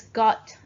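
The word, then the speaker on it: 午: bird and the mountain and your walker book good god you et/pt all right let's get the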